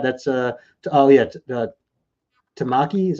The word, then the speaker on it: Tamaki: continue with that that's uh oh yeah uh tamaki is how you say that tamaki is a